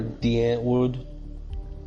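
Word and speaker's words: Die Antwoord: Well, do you know who Diane Ward is? Or Deant Wood is how they pronounce it.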